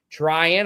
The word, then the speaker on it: Trahin: That was Andrew Tryan. Uh, for those wondering the spelling, T R A H I N. He pronounces it Tryan.